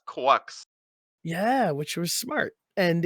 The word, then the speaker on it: GQuuuuuuX: They're like I think it's called it's pronounced quucks.